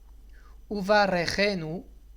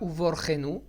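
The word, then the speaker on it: וּבָרְכֵנוּ: Uvarechenu et pas Uvorchenu et pas autre chose. Uvarechenu. Donc on va ralentir un tout petit peu sur le va pour pouvoir prononcer le resh. C'est pas Uvarchenu non plus. C'est Uvarechenu. Donc le resh il va être prononcé avec un sheva na.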